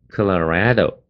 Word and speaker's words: Colorado: 科勒，你可以念科勒，Colorado 就好了。那么重音呢，就在那个 red 的地方。